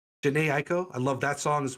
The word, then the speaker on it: Jhené Aiko: Jhené Aiko. Jhené Aiko.